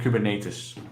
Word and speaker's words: Kubernetes: In Dutch, you say Kubernetes. I've heard. We'll go with Kubernetes. Yeah. This is now the official pronunciation.